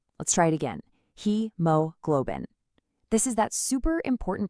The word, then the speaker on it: hemoglobin: He globin. really stress that first syllable. Let's try it again. He globbin.